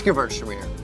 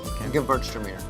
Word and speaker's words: Gewürztraminer: It's Gewürztraminer. A lot of people have problems with saying this word. If you take the W and pronounce it like a V, Gewürztraminer.